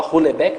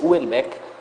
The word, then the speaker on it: Houellebecq: Assim, por hora eu estou lendo o Michel Houellebecq, que é outro autor também que eu imagino que você deve gostar, não sei, o Michel Houellebecq, o pessoal fala Houellebecq, mas é francês, Houellebecq.